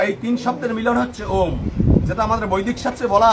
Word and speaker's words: ওম: এবং যেমন বৌমা বলেছে ওং, ওং না কিন্তু ওম। ওম শিখে যাও আজকে। ওম মানে অ উম, অ উম, এই তিন শব্দের মিলন হচ্ছে ওম, যেটা আমাদের বৈদিক শাস্ত্রে বলা আছে।